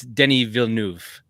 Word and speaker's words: Denis Villeneuve: So yes, Tim's wife is amazing, and shout out to his little girl, Team DC, and it's Denis Villeneuve is how it's pronounced, Ian.